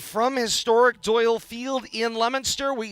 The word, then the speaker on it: Leominster: Todd Robbins alongside Bill Thomas and Kate Robbins at historic Doyle Field in Leominster tonight.